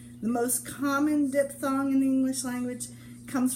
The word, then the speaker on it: diphthong: And it's spelled D-I-P-H-T-H-O-N-G, but it's, in America we say diphthong. And I've heard British people say it diphthong, but in America we tend to say diphthong.